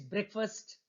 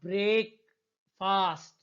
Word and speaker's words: breakfast: Ram gobbled his breakfast before leaving for school. Now, how do you pronounce this word, friends? It's not break fast.